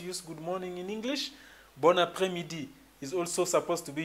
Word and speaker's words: bon après-midi: You have to pronounce it bon après-midi. So you make sure you connect this N and this A, so it sounds bon après-midi.